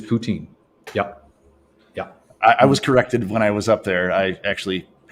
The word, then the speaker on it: poutine: Poutine. You got to be really careful how you say it, but it is poutine.